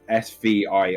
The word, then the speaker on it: svirfneblin: Oh, fuck, they have a name, which is I think like Savasta fucking Surf Nebulin. Jesus Christ. Okay, bless you. It's pronounced like it's SVIRFNEBLIN.